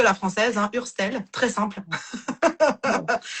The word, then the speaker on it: Hurstel: Moi moi j'ai envie de dire Urstel.